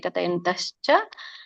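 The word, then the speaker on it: ಕಥಯಂತಶ್ಚ: ಭೋದಯಂತ ಪರಸ್ಪರಂ ಕತಯಂತಸ್ಚ ಕತಯಂತಸ್ಚ ಇಲ್ಲಿ ಕತಯಂತಹ ಚ ಅಂತ ಬರುತ್ತೆ ಹಾಗಾಗಿ ಚ ಕೂಡಿಬಿಡುತ್ತೆ ಅಲ್ಲಿ ಕತಯಂತಶ್ಚ ಮಾಂ ನಿತ್ಯಂ ತುಷಂತಿ ಚ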